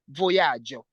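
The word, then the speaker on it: vojaĝo: Kiel estis via voyaĝo? Kiel estis via voyaĝo? Via voyaĝo. Voyaĝo, there is a J with a cap there, that's why we say J.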